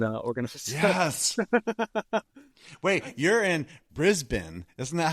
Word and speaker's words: Brisbane: Wait, you're in Brisbane. Isn't that how it's pronounced? Brisbane, right?